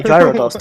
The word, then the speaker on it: Gyarados: Yeah, Gyarados, that's how it's pronounced.